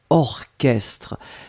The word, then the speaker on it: orchestre: Souvenez-vous, C'est bizarre, mais il existe certains mots qu'on écrit ch, mais qu'on prononce que. Il n'y en a pas beaucoup, c'est vraiment une minorité, mais ici c'est un exemple.